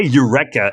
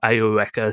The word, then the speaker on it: Eureka: I'm going to try and stick to the English pronunciation. So Eureka. Right, Eureka but they say Eureka in Japanese. They say Eureka. Eureka. Yes, because it's, the concept of like the soft E is not really expressible in Kana.